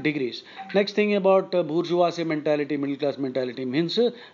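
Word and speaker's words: bourgeois: weird word weird spelling and equally idiotic outlandish pronunciation bujas middle class middle class usually this word bujas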